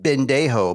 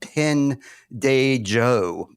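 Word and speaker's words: pendejo: Surprise to me as well that that word starts with a P and not a B. I've always said Ben Dejo, but it's spelled Pen Dejo.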